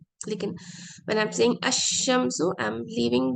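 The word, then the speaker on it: الشمسُ: Now, when pronouncing sun letters, lam of alif lam is silent. अशम्सु मैं बोलूंगी, अल कमरों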